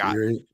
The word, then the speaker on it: Erie: mispronounce Erie. Yeah, I'm pretty sure it's Erie. I mean, I grew up on Lake Erie. I don't know if that counts. I think but it is Erie.